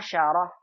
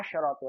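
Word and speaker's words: عشرة: Kalau muzakkar kita baca asyru. Kalau muannas dibacanya asyarah. Sinnya berharokat. Jangan kebalik. Nanti asyrunya dibaca asyaru. Asyarahnya dibaca asyratu. Salah ya. Perhatikan nih. 10 memang beda antara muzakkar dan muannasnya. Kalau muzakkar shinnya sukun asyru.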